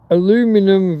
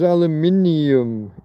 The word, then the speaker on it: aluminium: Aluminum versus aluminium. Yeah, we put an extra syllable, not just an extra letter, but it's an extra syllable, isn't it?